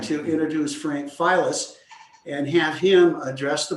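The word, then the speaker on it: Filas: It's F-I-L-A-S, it's pronounced Files.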